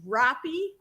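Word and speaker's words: Roppy: It's actually Robppy. Um, it's like if you said Hoppy, but take the H off and put an R. And there you got it.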